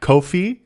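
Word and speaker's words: Ko-fi: us uh we learned how to say Kofi rhymes with no fee hilariously which you can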